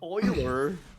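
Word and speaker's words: Euler: Um Oiler. Is that how you say that? That's crazy. Yeah, that's how that's how he's pronounced.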